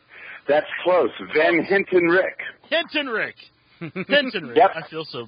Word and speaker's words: Van Hentenryck: we he's got a hard last name to pronounce it's van heni is that right that's close van Hinton Rick Hinton Rick I feel so bad he felt